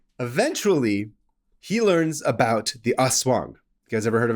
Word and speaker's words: aswang: Eventually, he learns about the aswang. You guys ever heard of an aswang? Again, hopefully I'm pronouncing this correctly. It's A-S-W-A-N-G, aswang. Aswang, I think is what it is.